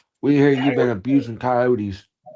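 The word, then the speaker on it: Kioti: But I think they pronounce it coyote.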